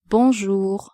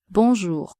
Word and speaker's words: Bonjour: Bonjour. Bonjour. Be careful with the pronunciation of the nasal vowel. Bonjour.